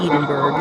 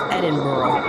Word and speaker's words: Edinburgh: It's not Edinburgh, it's Edinburgh. A team of researchers from the University of Edinburgh, I learned, and the